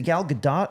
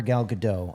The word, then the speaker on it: Gal Gadot: have you ever wanted to see is it Gal Gadot or Gal Gadot I always say it wrong yeah I think apparently it's Gal Gadot but everyone says Gal Gadot so just say